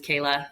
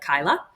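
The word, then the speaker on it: Kaila: name is Kayla but it's spelled k a i l a so it looks like Kyla so we get Jana and Kyla constantly so ever anybody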